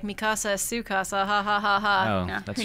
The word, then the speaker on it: Mikasa: Also, Mikasa, that is how you pronounce her name in the Japanese version. In English, I think the dub, it's like Mikusa.